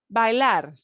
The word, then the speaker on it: bailar: We pronounce every one of those. AI is not like pale, rail, tail in English, right? We have to pronounce every sound. So it's bailar.